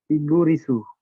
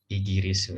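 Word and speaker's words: イギリス: Igurisu. Bendera Inggris ya. Jadi kalau orang Inggris dalam bahasa Jepang disebut apa? Igurisu Jindes. Igirisu ya.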